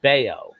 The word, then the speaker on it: Bello: spelt bellow it's pronounced bao bao that's right yeah like scott baio from china yes exactly